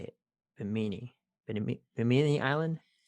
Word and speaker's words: Bimini: Bimini. B I M I N I. Bimini. Sure. Yeah, sounds right to me. That's not how they pronounced it. Hold on a second. Biminy. Biminy. There. Thank you.